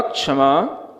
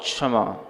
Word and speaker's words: क्षमा: हैं एक ध्यान रखें जब भी संस्कृत में क्ष पढ़ा जाता है तो कस योग क् एक सूत्र आता है तो उसमें से पहले आपको थोड़ा क का उच्चारण करना उत्तम क्षमा नहीं तो उत्तम क्षमा ऐसा हो जाएगा है ना वो क्षमा